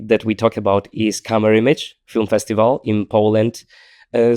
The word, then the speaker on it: Camerimage: we talk about is camer image film festival in Poland uh some people also call it camer image from like French pronunciation of like the the image word and the lineup of